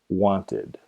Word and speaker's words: wanted: Los verbos que terminan en los sonidos T o D, T o D, pronuncia el verbo con el sonido id en la terminación.